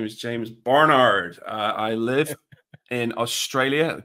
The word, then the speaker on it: Barnard: much Stephen um yeah good pronunciation of my surname there um I like the British accent well done I appreciate that it's not Bernard it's not Bernard it's James Barnard so well done thanks